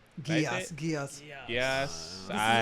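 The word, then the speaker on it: Geass: Geese? Gias, Gias.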